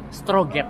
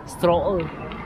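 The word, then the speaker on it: Strøget: Kalau misalnya pakai bahasa kita sih stroget. Okay. Tapi kalau misalnya pakai pronounce-nya sini stroll. Apa? Stroll. Stroll. Jadi ini apa? Jadi G sama T-nya tuh hilang.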